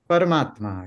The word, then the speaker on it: Paramatma: questions is one word param Atma or when combined how do we pronounce this word parmatma yes so who is